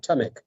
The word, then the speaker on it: Tamek: Tamek.